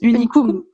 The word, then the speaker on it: Unicum: Ok, et donc puisque tu t'es lancée une première fois avec Unicum, comment tu le prononces? Unicum.